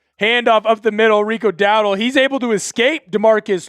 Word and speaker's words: Dowdle: Rico, it is Dowdle. I don't know why I thought it was Dowell.